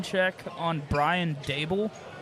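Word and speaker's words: Daboll: pronunciation check on Brian Dable? It's Dable. Dable. I thought it's Dball. It's Dable. Dable. It was day ball before the weight loss. Now it's day ball. It's never been day ball.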